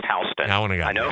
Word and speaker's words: Houston: It's spelled Houston, but it's pronounced Houston.